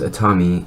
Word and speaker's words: Atomi: here is the Atami I think it's just pronounced a Tommy sharper image charge card